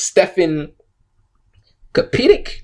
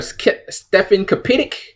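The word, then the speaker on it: Stefan Kapičić: I'm trying to pronounce his name. It's Stefan Kapitic, or Stefan Kapitic, I think his name is.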